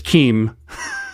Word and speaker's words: KIM: And that's why you're able to have KIM solutions. And I'll argue with you and Henrique and Paul, who've all told me it's pronounced Kim, because to me it's Keem.